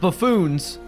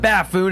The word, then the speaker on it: buffoon: Now, if we're going to talk about buffoons, that's spelled B U FF O N. All right. Not It's not baffoon, it's buffoon.